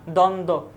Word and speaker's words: দ্বন্দ্ব: দ্বন্দ্ব, বফুলার উচ্চারণ পাচ্ছি না।